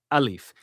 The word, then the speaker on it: alif: Okay, alif, which sounds like alf, right?